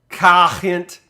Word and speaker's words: Gent: Gent. That's how you pronounce that, I believe.